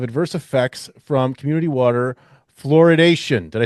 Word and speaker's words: fluoridation: convincing evidence of adverse effects from community water fluoridation.